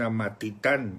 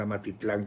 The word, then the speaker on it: Amatitán: se está casando en Amatitán yo lo estaba pronunciando mal amatitlán con l es Amatitán es que ustedes son